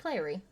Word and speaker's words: Clary: It's Clary. I thought it has an E. No, Clary? from City Bones. I think it's Clarice. Is it? Mm. I'm gonna Google it now. Well, it's No, it's Clary.